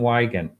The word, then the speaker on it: Weygandt: Kim in chat, that is Jonathan, but it's spelled Weygandt. Jonathan Wigan.